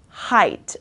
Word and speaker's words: height: This is complicated because there are so many vowels in the world, in the word, but it's pronounced height, okay?